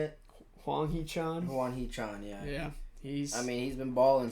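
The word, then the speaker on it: Hwang Hee-chan: Huang Chi-chan? Is that how you say it? Huang Hee-chan? Huang Hee-chan, yeah.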